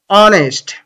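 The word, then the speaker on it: honest: এর মত উচ্চারিত হয় তাহলে এন বসবে যেমন অনেস্ট অনেস্ট দেখো এইচ তে হয় এখানে অনেস্ট হওয়ার কথা ছিল কিন্তু উচ্চারণটা হচ্ছে অনেস্ট ঠিক আছে আর এইচটা আছে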